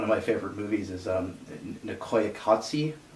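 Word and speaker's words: Koyaanisqatsi: my favorite movies is nicaya kotse I believe is how you say no clayey kasi it's a it's a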